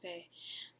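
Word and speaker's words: beith: also known to the celts as uh is bae it's it's pronounced bay um and birch is the ladies tree it's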